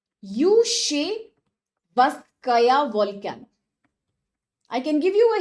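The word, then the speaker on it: Klyuchevskaya: Yushevskaya volcano. Let me write down the name for more clarity. It starts with K, but the KL is silent here, as most names are from this region. Yushevskaya volcano.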